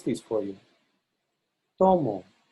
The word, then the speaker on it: tomo: Tomo. Notice that to is a little bit louder than mo.